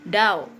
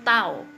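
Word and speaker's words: dao: Nah, ini bacanya bukan daw tapi taw ya.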